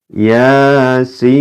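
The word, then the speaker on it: يس: Cara bacanya bagaimana? Ini ya. Dibaca Yasin.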